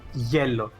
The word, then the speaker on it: hielo: It's pronounced yellow. Yellow. Kind of Okay. like yellow, but then the O, they just yellow.